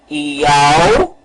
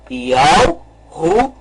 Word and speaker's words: Yahushua: Então vamos pronunciar o nome. Yahushua. Vamos novamente pronunciar. Yahushua. Este é o nome correto.